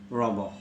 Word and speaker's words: Rimbaud: The spelling is Rimbaud, but as he is a French personality, so the pronunciation should be Rimbaud.